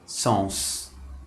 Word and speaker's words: sens: E na palavra sens, que significa sentido.